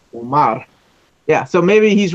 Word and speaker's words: Omar: It's not Omar. It's Omar.